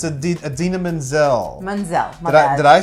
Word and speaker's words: Idina Menzel: No, you're John Travolta-ing it. Did I do it backwards? No, you just John Travolta. It's Idina Menzel.